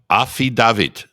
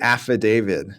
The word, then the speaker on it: affidavit: word let's see uh how I've heard this pronounced Aid David we have to give an aid David pretty close and so I would say affidavit and this came up